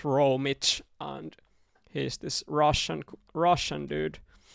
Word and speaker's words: Romi4: This style was found by Romi4, how it's written. It's pronounced Romich, and he's this Russian dude who was really good at the game when he was playing.